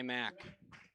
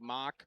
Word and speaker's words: Mach: And a sophomore number 23 Eli Mack. As we try to nail down the pronunciations for this game. Spelt like Mach. PA's going with Mac.